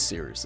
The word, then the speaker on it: Cyrus: Let me know in the comment section down below Anyway, my name is Cyrus. It’s spelled like “Cyrus,” pronounced like “See Rooster,” just take out the “ter” Thank you very much for watching, and have a wonderful day!